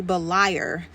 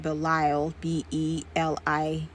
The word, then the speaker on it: Beliar: of 2 Corinthians is actually Beliar, Beliar, and not Belial, Belial. This is the reading preferred by textual scholars, and the change of L to R is attributed to a common change in Aramaic pronunciation.